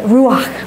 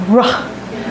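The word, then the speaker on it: רוח: Ruach, right? It even sounds like breathing. Ruach, right?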